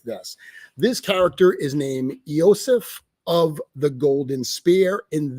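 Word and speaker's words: Iosif: So Eosif is actually a Slavic pronunciation of Joseph.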